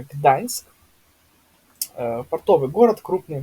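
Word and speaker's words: Gdańsk: писать н и да это у нас Гданьск, не Гданьск опять же, да, именно Гданьск, ээ, портовый город, крупный в Польше.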